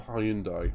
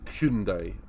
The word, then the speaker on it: Hyundai: Maybe 2 weeks ago, and ripping around in a Group 4 Hyundai, or Hyundai, as I think it is actually pronounced.